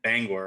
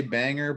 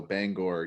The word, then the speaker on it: Bangor: pronouncing that right so so it's bangor right yo yeah and people want to say banger but there's an o in there for sure so bangor yeah yeah see i